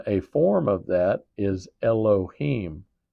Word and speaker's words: Elohim: And then a form of that is Elohheim. E L O H I M.